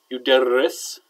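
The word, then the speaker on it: يدرّس: So yuderris, 3 syllables. The first stem letter is a fatha, and the second stem letter is a shadda with a kasra.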